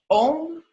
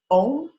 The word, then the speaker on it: Om: So the mantra in itself is Om Prithvi Dhatu Bhumi Devya.